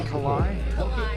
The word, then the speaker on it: Kalai: Is that pronounced Kalai? Okay, thank you.